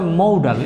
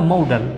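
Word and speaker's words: modal: Must have আর হচ্ছে অর্থাৎ যে মৌডাল ভার্ব, এটার উচ্চারণটা হবে মৌডাল। এখানে দেখো তোমরা মৌডাল, উচ্চারণটা হবে মৌডাল।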